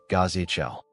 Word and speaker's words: Ghazal: The statues of Ghazal, pronounced Ghazal.